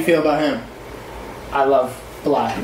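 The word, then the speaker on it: 6LACK: I love Black, not 6 Black. I love Black. Yeah, I just said that because that's how it's spelled.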